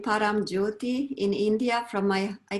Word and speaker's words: Paramjyoti: I will let you pronounce it so it's correctly pronounced. Yes, I received the name Paramjyoti in India from I call it heart family.